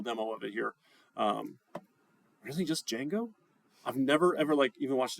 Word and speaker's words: Django: We're going to look at, I think it's pronounced django. I don't actually know how people pronounce it here because I've only ever read it. Just Django? You don't say the D?